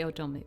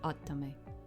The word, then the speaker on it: Otome: You say Otomy, but it's Otto. It's the right way to say it in in Japanese.